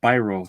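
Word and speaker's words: Biro: well my uh uh Myer greenblat says it's pronounced brro so Charles brro let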